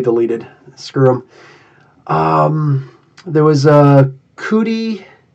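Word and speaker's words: Cudi: Cootie, C-U-D-I is how it's spelled.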